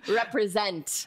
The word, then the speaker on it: represent: We've got 3 syllables. Represent. Who is going to jump? 3, 2, 1. Oh, interesting. Do we have 2 syllables emphasized in this word? Let's see. It's actually the last one. Represent.